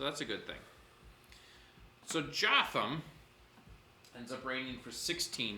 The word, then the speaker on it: Jotham: Jotham rhymes with Gotham.